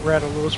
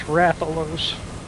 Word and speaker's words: Rathalos: like English people just pronounce it ralo for some reason and it's dumb it's Rathalos it's quite clearly Rathalos all right you see